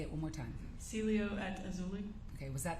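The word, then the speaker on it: Cielo: the Celia how do you say it again Celio say it one more time Celio at auli okay was that the name of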